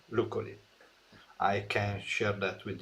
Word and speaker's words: Luccoli: And it is pronounced Luccoli.